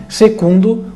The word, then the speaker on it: secundo: Você usava a letra V como U, porque o V não se pronunciava como V. Então, quando você fala em latim, segundo, o U se faz com a letra V e não com a letra U.